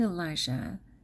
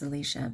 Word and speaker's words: Elisha: forgive me okay so he came to Elijah and it's pronounced Elisha but he came to